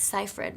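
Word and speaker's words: Seyfried: So, according to her, it's Cipher.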